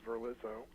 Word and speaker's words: Verlizzo: that many people mostly my teachers could not pronounce my last name which is verlizzo i think they would see it in print